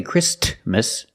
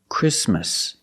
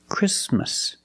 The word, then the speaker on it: Christmas: We don't say Christmas. The T is between consonants, so it is silent. Link the sound s with the m. Christmas, Christmas.